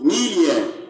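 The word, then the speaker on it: milieu: Alright, this is pronounced Melia.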